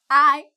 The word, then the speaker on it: hay: Muy bien, so I es el verbo haber. And that's equivalent to there is and there are. I. Okay? The H is not pronounced.